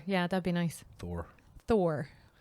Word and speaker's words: Thor: yeah that'd be nice Thor Thor there's no a in it Thor Thor Thor am I saying it weird yeah am put it's th h o r not t like I know how it's